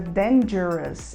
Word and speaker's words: danger: a gente fala Dangers o G da palavra Dangers ele sai com o som de J depois do som do d então a gente fala